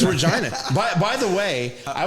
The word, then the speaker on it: Regina: No, that's how it's pronounced. It's a real city. That's Regina, Saskatchewan. Getting any trouble. Okay. No, no, it's Regina.